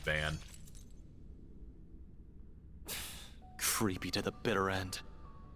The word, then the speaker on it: Van: I also initially thought his name was going to be pronounced Vaughan until uh until they started calling him Van.